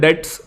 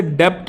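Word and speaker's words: debt: Reckless young man was dash for the dates इनक्योर्ड बाय हिम। पहली बात तो इसे डेप्ट नहीं कहते हैं, इसे डेट कहते हैं। इसमें जो बी होता है ये साइलेंट होता है ना।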